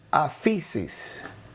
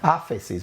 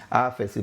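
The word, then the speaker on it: ἄφεσις: que se usa aquí es la palabra aquí afisis. Okay, esta palabra en griego la tengo aquí. Afisis, perdón y olvidar. Okay, pero mire, mire, mire bien, mire bien. Afisis, mira cómo se dice. Asis. Afesis, perdón, perdónenme los griegos.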